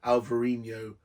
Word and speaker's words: Alvarinho: absolutely delicious U which is £ and it's it's spelled Al VA with a V not a b alvarinho not a new but an H because it's